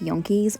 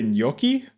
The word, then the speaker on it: gnocchi: This is a creamy lemon chicken with yankees. Oh my gosh, it's so good. Yankees? You trying to say gnocchi? Pronouncing it like yankees is absolutely wild.